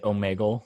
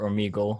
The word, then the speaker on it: Omegle: I met you through the site Omegle or Omegle, however you want to pronounce it.